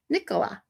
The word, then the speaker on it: Nicola: Most Americans pronounce it as Nicola, but you say it the way we do in UK. Nicola.